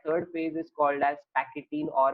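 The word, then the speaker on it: pachytene: That third phase is called as पैकेटीन और पैचिटीन। पैचिटीन general नहीं pronounce करते, पैकेटीन common pronunciation है इसका।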